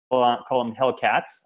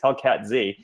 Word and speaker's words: Hellcat Z: And Hellcat Z, I used to call him Hellcats. I learned in putting this together that the correct pronunciation, guys, is Hellcat Z, was actually instrumental, completely